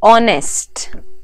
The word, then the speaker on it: honest: and r honest man honest o is the sound that you can hear not honest so and similarly